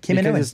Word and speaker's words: Kaminoan: What I love most is that we finally got a very good and solid way to pronounce Kaminoan. Oh, yeah. Kaminoan.